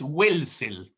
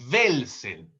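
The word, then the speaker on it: Welzel: Igual con este señor Velsel W e Z e L. No es welsel, sino es Velsel o como Max Weber con W.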